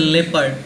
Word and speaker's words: leopard: And don't pronunciate it as leopard, it is a leopard.